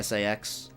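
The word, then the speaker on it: SA-X: It's like, you know it's not pronounced that way, but it's quicker to say Sax instead of SAX.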